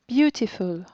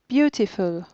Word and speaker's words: beautiful: elephant elephant première syllabe beautiful beautiful première syllabe à nouveau à mézin